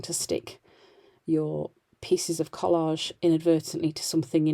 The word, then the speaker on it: Collall: I think it's Collage. It is. It's spelled COLLALL.